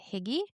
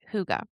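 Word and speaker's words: hygge: It's also inspired by the Danish concept of huga. So, you know, going to confess for a very, very long time, I thought this word was called higgy.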